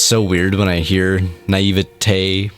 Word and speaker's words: naivety: Well, if you think of every other word, like obesity or stupidity, like it always ends in E, not A. Like naivete. So you'd say naivety.